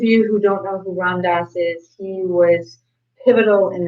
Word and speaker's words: Ram Dass: And it's, how do you pronounce his name? Ram Dass. Ram Dass.